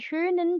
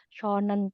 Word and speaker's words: schönen: Kalau kita keliru ngomong ya dia nggak ngerti, pelafalannya keliru harusnya umlaut misalnya schönen Tag, tapi ngomongnya schonen Tag ya mereka nggak akan respon karena itu salah buat mereka kayak gitu.